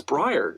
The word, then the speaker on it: Briar: It's Brian? It's Brian? No, it's Briar.